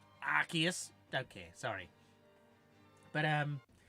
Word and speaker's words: Arceus: I think that one you're supposed to pronounce it Arceus don't care sorry but